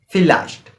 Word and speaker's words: vielleicht: But if you see my pronunciation class, in which I telling you that V pronunciation as phi, that starting with F pronunciation, right? So according to that we use this, we pronounce this word is vielleicht.